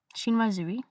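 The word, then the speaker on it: chinoiserie: Shinwazui. Apparently, that's how you say it.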